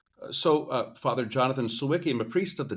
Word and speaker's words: Sawicki: And for the first time, Father Jonathan, who I would say Savvitzki uh but as uh as I understood that you go by the anglicized name of Siki.